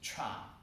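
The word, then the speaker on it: 禅: Zen pronunciation is Japanese. So when the Buddhism was introduced about 200 years ago or 300 years ago, Japanese Buddhism was spread. So Zen Buddhism is Zen pronunciation. Actually, the Chinese pronunciation is Chan. So in China, it is called Chan Buddhism. In Korea is Sun Buddhism. Or in Korean, Sun Bulgyo. So Sun, Chan, Zen is the same pronunciation.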